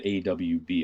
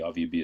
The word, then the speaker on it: AWB: Even further to the right than the HNP was the AVB, or the AWB. AVB is the Afrikaans pronunciation of that.